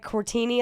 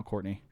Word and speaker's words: Cortni: courtney c-o-r-t-n-i right yeah there's only so many ways to pronounce that though i get i get i get cortini a lot how interesting yeah i think i look italian why not but you're not